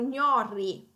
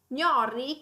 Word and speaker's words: gnorri: numéro 15 nous avons gnorri gnorri comme vous pouvez le voir il y a le son du palatal nasal gn et puis il a le double r donc ça pourrait être difficile à prononcer gnorri j'ai presque du